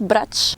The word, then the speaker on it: Brač: L'île de Brac, qui se prononce "Bratche".